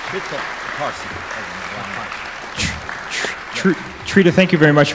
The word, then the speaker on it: Trita Parsi: How do you pronounce his name? Trita. Last name. Trita Parsi.